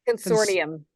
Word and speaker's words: consortium: How do you say that word? Consortium. Consortium. Thank you. Yep. Today's that was a hard one. Is consortium. Okay, the T sounds like a D.